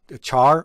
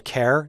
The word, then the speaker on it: char: Another important data type that I want to discuss is a char or a char, depending on how you pronounce it.